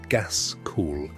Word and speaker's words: Gaskell: Charles Dickens, Elizabeth Gaskell, pronounced Gaskell, and Henry Mayhew, pronounced Mayhew, who interviewed the poor and wrote down what they said.